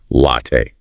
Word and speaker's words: latte: Remember the heartbeat. Heavy on the first part, soft on the second. Open your mouth wide for the a sound. Latte. Let's do it again. Don't be shy. Hit that first sound hard.